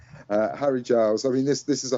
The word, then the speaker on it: Harry Giles: I keep getting his name wrong. I want to call him Harry Styles or Barry Giles. But no, Harry Styles, I was going to say it again. Harry Giles.